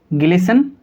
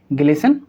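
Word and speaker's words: glisten: आप ध्यान से देखिए, यहाँ पर लिखा TEN और इसमें लिखा TCH, तो यहाँ भी लेटर टी साइलेंट होगा, यहाँ भी लेटर टी साइलेंट होगा। कॉन्सेप्ट क्या है? कॉन्सेप्ट हमारा ये है, जब भी TEN एक साथ आएंगे तो टी साइलेंट होगा, TCH एक साथ आएंगे तो टी साइलेंट होगा। हम इसको पढ़ेंगे ग्लिसन और इसको हम क्या पढ़ेंगे? मैच।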